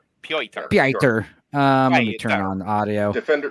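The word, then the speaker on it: Piotr: Yeah, that's spelled P I O T R. Per.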